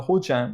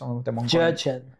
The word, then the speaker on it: Jurchen: But this is Jurchen. No, it doesn't have an A.